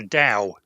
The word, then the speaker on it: Tao: TAO is a Chinese word, and it's pronounced Dao. It's supposed to be an unaspirated T, so it sounds like a D.